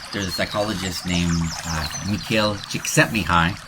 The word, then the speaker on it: Csikszentmihalyi: There's a psychologist named Mikhail Csikszentmihalyi. That's really how you say it, but don't try to spell it from that.